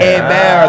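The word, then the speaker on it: Hebert: it's hey Bam hey bear The Edge is silent so think like a bear is attacking Leo DiCaprio yes total revenue uh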